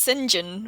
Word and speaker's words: St. John: John is pronounced St. John when it's a first name.